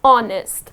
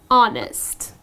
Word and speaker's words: honest: need not pronounce this edge here the correct pronunciation of this word is honest so it's just gonna be honest okay she is such an honest person it's